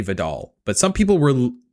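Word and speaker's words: Vedal: I'm for now I'm going to say Vidal, but some people were Viddle like pedal.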